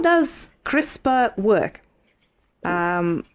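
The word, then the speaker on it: CRISPR: It is spelled as C R I S P R pronounced as crisper apparently and it stands for clustered regularly interpaced short pindroic repeats.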